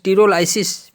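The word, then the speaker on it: pterylosis: टीरोलाइसिस में PTEROLYSIS, टीरोलाइसिस, P silent में रहता है।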